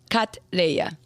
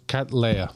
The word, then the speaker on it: Cattleya: You can think about a cat. Yeah. And Princess Leia. Cat Leia. Cat Leia.